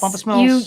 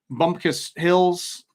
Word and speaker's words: Bumpus Mills: Supposedly, whatever did that at Bumpus Mills, is it Bumpus Mills? Am I saying that right? Yes. Bumpus Mills.